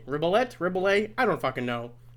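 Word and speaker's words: Rebillet: it's called your new morning alarm by mark ribollay ribelette rebel a i don't know it's spelled r-e-b-i-l-l-e-t that's marco blett's last name he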